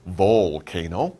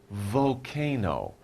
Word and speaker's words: volcano: about a volcano volcano we don't really pronounce the l you don't say volcano you say volcano volcano okay so of